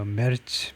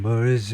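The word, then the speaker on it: Merz: 프렌시 마크롱 그다음에 독일의 머츠에 독일 발음은 이제 뭐 mer츠 뭐 이런 정도인데 영어식으로는 그냥 머즈 머즈 정도인데요.에 이테리의 여성 총리가 여성 총리가요.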